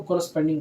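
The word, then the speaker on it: corresponding: अंग्रेजी में इसको कॉरस्पेंडिंग बोलते हैं, कॉरस्पेंडिंग। स्पेलिंग में मत जाना है, एंगल कॉरस्पेंडिंग एंगल बोलते हैं, जिसको हिंदी में संगत कोण बोलते हैं।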